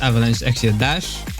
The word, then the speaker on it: Avalanche Exia Dash: By the way, the text says Gundam Avalanche Xiaprophe, but it's actually pronounced Avalanche Xia dash. In Japanese, it's dash.